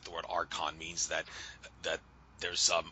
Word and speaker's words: arch: the word Arc or the word Arch that's pronounced like Arc before for Angel some